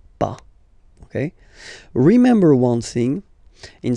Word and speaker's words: pas: have to put this PAH ok so first no then the verb and after that PAH ok we write it p is ok but as usual final s is not pronounced so its paw ok remember one thing